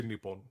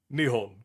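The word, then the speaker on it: 日本: Why did I say Nepon? See, see, look. I'm That is incorrect. What I said was incorrect. Nihon.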